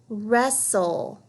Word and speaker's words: wrestle: we have a WR don't forget that W is silent you just hear the ERV this word let's read it Russell please do not wrestle